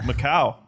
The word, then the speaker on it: Macau: Macau. Oh, is that how you pronounce it?